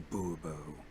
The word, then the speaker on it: Bourbeau: I expect you to address me as Sir, or better yet, as Monsieur de Bourbeau. Fine. Monsieur de Bourbeau. The emphasis falls on the last syllable.